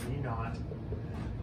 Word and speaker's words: v naught: sides of the equation v naught squared that's just v sub zero that's pronounced me not um this gets my